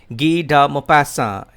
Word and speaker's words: Guy de Maupassant: has been written by ghida mopassa it's a french name so i would like to read it out again for your facilitation for clear pronunciation gee da mo passa he is 19th century